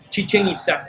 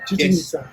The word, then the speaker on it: Chichen Itza: Chichen Itza. Chichen Itza.